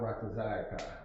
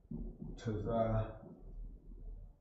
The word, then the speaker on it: Ratazaka: So Thaba'a Ratazayaka. Ratazaka. I just noticed when I was saying that word, I've always been saying Ratazaya for some reason, when it's Ratazaka.